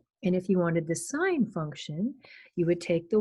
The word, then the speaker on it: sin: the cosine and that's abbreviated cos in the pronounced cos not cos and the sine would be the y coordinate and that's sine that's abbreviated s-i-n that's not sin that's pro that's pronounced sine even though it's just says it's it's not